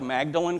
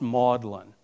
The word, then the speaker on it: Magdalen: young professor at oxford it looks like magdalen college but it's pronounced maudlin you have to know